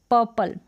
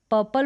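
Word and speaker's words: purple: फिर ये है पर्पल, पर्पल बोले या पर्पल बोले, दोनों तरीके से प्रोनाउंस किया जाता है, पर्पल या फिर पर्पल, थोड़ा सा र का साउंड आएगा और पर्पल भी प्रोनाउंसिएशन इसका होता है।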